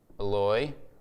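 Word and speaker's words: Eloi: pen okay so Jesus says this he says LOI or if you read it in Matthew it's spelled like this it spells like Eli but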